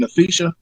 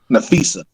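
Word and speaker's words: Napheesa: uh I don't want to miss how you pronounce her first name. Nfisha. Nfisa. Nafisa.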